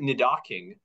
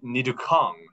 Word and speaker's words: Nidoking: They pronounce it Nidoking, but they also pronounce it within the same episode, Nidoking and Nidukong.